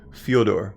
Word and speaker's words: Fedor: NASA to cover the on station operations fuel door okay got it proper pronunciation is important to me so thank you